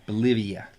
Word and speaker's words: Bolivia: to go to um Bolivia yeah it rhymes with Olivia Newton John yes wow uh and